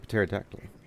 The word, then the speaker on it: pterodactyl: And we did found the pterodactyl. The pterodactyl. The P is silent.